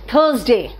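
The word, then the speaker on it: Thursday: और दिन का नाम Monday ट्यूसडे वेंसडे, इट इज नॉट वेडनेसडे, वेंसडे थर्सडे, इट इज नॉट आर को आर वहां साइलेंट है थर्सडे में, Friday सैटरडे and Sunday, it इज नॉट सैटरडे, इट्स सैटरडे Sunday.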